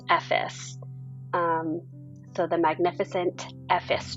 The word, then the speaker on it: Ephesus: s u s so we thought it was Ephesus but it's pronounced effice um so the Magnificent epes tour we did